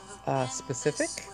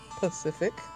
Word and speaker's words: specific: I'm clowning or shading the people who, instead of pronouncing, well, their enunciation or pronunciation of the word specific, they say it's Pacific.